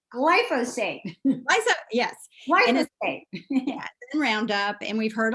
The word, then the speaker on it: glyphosate: about a lot is the glycosidic glycophocate i never can pronounce it i'll help you out it's glyphosate yes roundup and we've